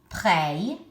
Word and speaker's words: prêt: Modeste, pénible, pray, like you're praying, and then the female form, prête.